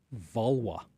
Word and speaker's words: Valois: learn Henry Vala is how his name is pronounced vwa told you people are going to be mad